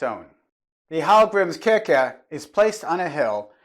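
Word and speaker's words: Hallgrímskirkja: Hallgrimskirkja means Church of Hallgrim, pronounced in Icelandic as Hallgrimskirkja.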